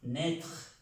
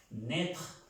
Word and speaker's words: naître: Naître, la A y la I se pronuncia E, naître, naître, el verbo nacer, naître.